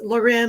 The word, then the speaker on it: Loren: So she always tells people it's Loren, like Sophia Loren, to tell people how to say it.